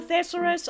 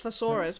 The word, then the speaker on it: thesaurus: Funny story about thesurus. I just decided to pronounce it that way because I'm an and I know it's thesaurus, but I say thesaurus because I'm COOL AND UNIQUE.